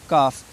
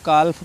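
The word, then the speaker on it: calf: एफ काफ लिखा है काफ बहुत से बच्चे इसको कल्प पढ़ते हैं काल्व ठीक है कल्फडी एफ के एम से पहले इन चारों लेटर्स से पहले अगर कहीं भी एल आता है तो उसका उच्चारण नहीं करना है अब देख लेते हैं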